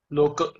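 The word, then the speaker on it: लोक: So our pronunciation is similar to yours, which is lok, not loka.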